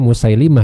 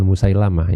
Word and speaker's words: Musailimah: Jadi kita bacanya Musailimah, ya, bukan Musailamah, ya, yang nabi palsu dari Yamamah itu. Nama yang betul cara melafalkannya adalah Musailimah, bukan Musailamah.